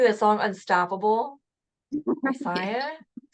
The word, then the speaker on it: Sia: She's just like I always think of that song Unstoppable by Sia, right?